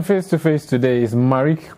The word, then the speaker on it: Marricke: How is it pronounced? Marricke, as in like the makeup no, people? No, it's actually Marricke. So just Marricke?